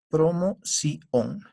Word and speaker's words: promoción: La mayor fuerza de voz está en la sílaba sion, promoción.